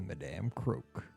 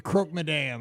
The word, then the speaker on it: Croque Madame: It's the Madame Croque. I don't know if that's how you pronounce it, but that's how I pronounce it. The Croque Madame. I was saying it the wrong way.